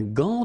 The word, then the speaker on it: gant: Un gant de toilette. Remember, G-A goes like ga, okay? G-g-g. But in that case, you've got this A-N, so it's nasal, gant, and then final T is not pronounced here.